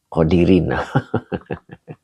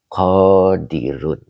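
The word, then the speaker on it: قادرون: Ini karena menjadi khabar ana. Begitu, Kang. Jadi, kalau khabar ana itu dibacanya roa. Nah, begitu ya. Jadi, annal qodiro ala dalika qodirun.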